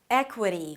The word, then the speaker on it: equity: We begin with the 'eh' as in 'red' - "eh". And then it's a 'k' sound and an W immediately - "kwuh" "kwuh". Obviously there is a schwa there, so it's a really relaxed vowel - "eh-kwuh".